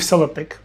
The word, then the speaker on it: SellerPic: That's exactly what I'm about to show you with Seller Pick, your new secret weapon for product visuals. Seller pick, pronounced seller pick, is an AI powered tool designed for e-commerce sellers, marketers, and content creators.